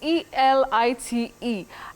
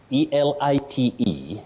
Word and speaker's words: elite: E-L-I-T-E. Yes. But many people innocently say elite. Elite, no. Okay. That word is pronounced as elite. Okay. Elite. One can also say elite, but elite, no.